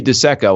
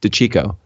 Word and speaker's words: DeCecco: You would think it would be DeCecco, and that's all. That's what Strick kept saying. But I said no. It's DeCecco.